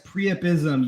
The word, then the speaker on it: priapism: Is it A, priapism? I did not pronounce that correctly.